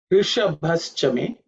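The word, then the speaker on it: ऋषभश्च मे: In terms of pronunciation, you pay attention to the sh, which is cerebral sh, and bha, which is the fourth letter in the pa varga, which has to be aspirated.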